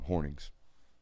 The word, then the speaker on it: Hornung: My dad's mom, Hornings. So it's actually pronounced Horning, not Hornung. It looks Hornung, but it's Horning.